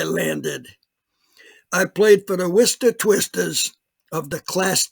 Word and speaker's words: Worcester: my baseball career and worcester so if you uh from outside of new england and you don't know this worcester is spelled like war chester but it's pronounced worcester it's about 50 miles